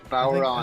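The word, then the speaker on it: bodhrán: like, I don't know, how do you pronounce it in Ireland, Virgil? Bowron. I think we say it baran in here, but that sounds like a bastardization of the pronunciation.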